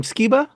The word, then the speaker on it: Skiba: meet you pleasure um pronouncing your last name skeba yeah you got it awesome I appreciate that